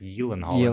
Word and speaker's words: Gyllenhaal: say change the pronunciation jake gyllenhaal is supposed to be pronounced yelling all in all because he's swedish yeah all right yes